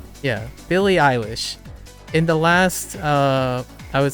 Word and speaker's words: Billie Eilish: Yeah, Billie Eilish.